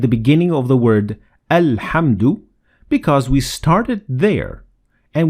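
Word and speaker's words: الحمد: the hemsat wassel but if you start at the word you will pronounce hamzet wassel like in this example alhamdulillah notice how we pronounce the hamzat wassel at the beginning of the word al-hamdu because we started there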